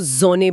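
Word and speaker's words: Sonne: पहला अगर एस किसी स्वर से पहले आता है तो उसकी ध्वनि ज हो जाती है। हां, जैसे सूरज के लिए सोन को जोने बोलेंगे।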